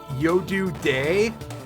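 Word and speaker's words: Yodu De: They changed their names in the SNES version at least to Yodu Day, which is spelled Y-O-D-U space D-E. It's a play on it being yo dude because they're peeking out from behind their shields, which I find that very funny.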